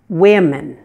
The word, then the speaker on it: women: muscles in your face the I sound is a front vowel meaning that that your tongue will be touching your lower front teeth as so and your mouth will be a little bit open again so yeah yeah let's